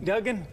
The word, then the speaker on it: Duggan: Mel, it's Duggan, right? Duggan. I'm sorry, I pronounce my name wrong all the time, but Dr.